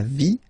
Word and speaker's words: vie: And then when they're ending with IE, like here, okay? So basically you don't pronounce the E, okay? So it will be only the sound I, okay? For instance, la vie, life, okay?